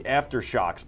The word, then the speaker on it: AfterShokz: These are the Aftershocks, by the way, just so I pronounce it correctly. AFTERSHOKZ. Check them out, Aftershocks.